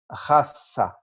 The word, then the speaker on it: raça: Raça. Raça. A R inicial é gutural.